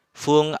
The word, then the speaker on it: 分: Satu kanji ini ada dua cara baca, fung atau pung ya untuk menit.